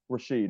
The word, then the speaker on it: Rasheed: ejected player in NBA history number one being Rashad Wallace Rashad wall did I pronounce his name right cam Rashid Rasheed okay Rasheed Wallace Rasheed and Rasheed did not